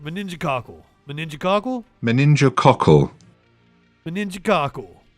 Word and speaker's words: meningococcal: meningococcal the ninja cockles apparently the uk pronunciation of it here in the us we say it moningo cockle moningo cockle i like the uk pronunciation better meningococcal meningococcal meningococcal meningococcal right